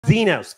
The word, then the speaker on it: Xenos: Today, our guest is our longtime foodie friend here in Southern California, Xenos. Did I say it right? Yeah, Xenos. Xenos, finally.